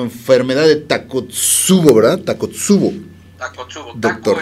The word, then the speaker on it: Takotsubo: Se pronuncia así como si fuera una sola palabra, pero es Takotsubo.